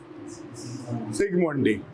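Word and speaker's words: Zsigmondy: First dental chart was সিগমন্ডি। Who said? কে বললো রে? তুই? ওকে ইট জেড দিয়ে শুরু হয়, জেড ইজ সাইলেন্ট, সিগমন্ডি।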